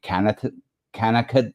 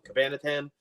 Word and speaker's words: Cabanatan: Cabanatan. Oh, see, I can't even say it. I'm on screen. So sorry. That's okay, Patrick. It's thanks for having me. It's actually Cabanatan. Rhymes with banana.